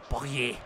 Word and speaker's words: Payet: Bueno, Payet no me gusta cómo suena. Probablemente sí se diga realmente, pero la pronunciación casi deportes en francés es Poyet.